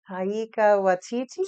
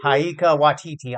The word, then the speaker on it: Taika Waititi: How do you pronounce his name? I always kind of mix it up. Taika Waititi? Taika Waititi.